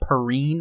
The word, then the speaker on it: Perrine: Miss Tessmacher, Eve Tessmacher, played by Valerie Perrine, I think is how you pronounce her name.